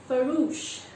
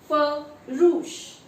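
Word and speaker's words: farouche: This is pronounced as Faroush. Faroush.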